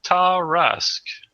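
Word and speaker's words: Tarrasque: Well, Oh, pronunciation wiki says Tarask. So I guess we're right.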